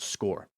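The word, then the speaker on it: Scoir: create your score account that's s-c-o-i-r it's pronounced score score is going to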